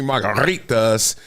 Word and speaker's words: margaritas: To me, margaritas. Got to roll your R.